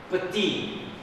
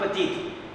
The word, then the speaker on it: petit: Petit. What is the word? Petit. I'm writing. Petit. Pronunciation is petit. Not petite. Petit. This one we pronounce petite.